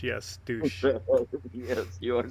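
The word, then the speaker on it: dush: Yeah, it was spelled D-U-S-H, pronounced D-O-O-S-H. Yes, douche.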